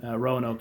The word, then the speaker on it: Roanoke: So I was born in Roanoke, Virginia. Oh my God! And they put an extra syllable in there than you'd expect. Okay. It's like so it's inexplicably 3 syllables long.